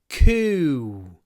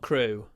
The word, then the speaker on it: coup: Everything changed after the coup. No, not crew. Everything changed after the coup. Got it. Second time. Coup. Coup. What do you say? Coup. Everything changed after the coup.